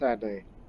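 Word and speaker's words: Addai: I guess that's how we Americans pronounce it, but it's Adai. You would pronounce the I like it's the letter E.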